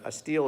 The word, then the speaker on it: stele: us another inside look it's just a steel as a is like a yeah yeah it's a tablet yeah and it spelled the way it's spelled ste le but a lot of